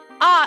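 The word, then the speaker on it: あ: Ah is always pronounced like an ah, or the A in the word father.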